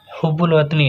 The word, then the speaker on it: حب الوطنی: لفظ ہے حب الوطنی۔ دیکھو اسے حب الوطنی پڑھیں گے، بہت سے لوگ جو یہاں پر غلط پڑھتے ہیں، تو یہاں پر صحیح تلفظ کیا ہے؟ حب الوطنی۔ اور حب الوطنی کا